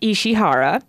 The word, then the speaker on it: Ishihara: In a recent interview with Famitsu, I believe his last name is pronounced Ishihara, expressed a desire to